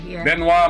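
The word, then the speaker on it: Benoit: wasn't but other birthdays benoi Mel mandal broth polish born French americ mathematician yeah don't pronounce the T benoir malra yeah there you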